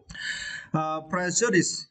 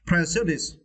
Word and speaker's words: prejudice: Prejudice. Yeah, and for this word, you need to stretch the first syllable. Okay. Prejudice.